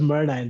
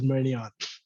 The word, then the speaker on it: Murnine: first of all, it's pronounced Murnine. That's the most Oh, pissing off part. Like no one even pronounces it properly. I And didn't. and like I can't even blame them because like if I Hmm. wasn't me, I would be pronouncing it as Murnion.